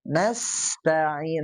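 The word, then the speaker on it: نستعين: Nah, kalau Kang Yudi tadi nasta'in. Nah, sofirnya kurang. Nas. Nah, ada suara tambahan seperti suaranya desisan ular.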